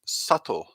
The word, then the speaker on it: subtle: can see from this the pronunciation is subtle subtle so you can see quite easily you can hear quite easily that the silent letter is b so it's subtle and